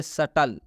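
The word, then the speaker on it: subtle: है अब हम लोग इसको पढ़ेंगे सटल क्या पढ़ेंगे सटल इसलिए टी के पहले बी है इसलिए इस बी का उच्चारण नहीं करेंगे बी साइलेंट हो जाएगा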